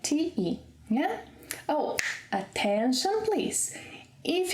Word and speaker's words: te: That can be pronounced as chi, but it's spelled with e, like te.